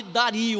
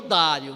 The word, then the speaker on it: Dário: E ela só recomeçou já no reinado de Dario, ou Dário, né? Depende da forma que você pronunciar.